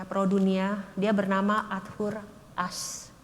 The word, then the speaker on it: Ashe: Dia bernama Arthur Ashe. Emang tulisnya Ashe, ya, tapi saya udah cek dan bacanya Ashe, gitu.